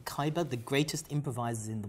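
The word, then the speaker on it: Ceiber: the 1984-85 coal dispute do you pronounce this saber caber c-e-i-b-e-r kyber excuse me kyber the greatest improvisers in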